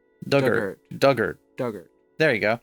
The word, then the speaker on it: Dugort: Dug like the past tense of dig. Ert rhymes with hurt. Dugert. Duggart.